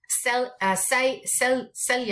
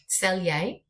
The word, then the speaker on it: Selye: Selye, I always pronounce his name wrong, S-E-Y-L-E, Selye, he did the general adaptive syndrome, which has put it into 3 categories.